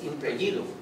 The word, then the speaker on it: Impregilo: Se escribe Impregilo, pero se dice Impregilo. Es italiano.